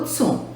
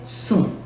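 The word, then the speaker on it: cun: O Tsum, a ortografia é Kun. Porém, nós utilizamos a pronúncia Tsum.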